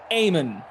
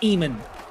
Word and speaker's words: Amen: Amen, not Eamon. Got it. The E is silent, like Django.